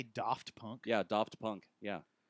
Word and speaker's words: Daft: No, are that's you, that's the it's the Doft? that's the actual pronunciation. Yeah, Doft.